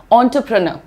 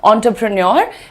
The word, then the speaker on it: entrepreneur: ना, that is ऑन्ट्रप्रनर, ऑन्टरप्रनर। ठीक है, प्रेन्योर भी बोलना चाहो तो इंडियन एक्सेंट में आता है वो, आप बोल सकते हो ऑन्टरप्रेन्योर, लेकिन more accurate pronunciation is ऑन्टरप्रेनर, ऑन्टरप्रेनर, right?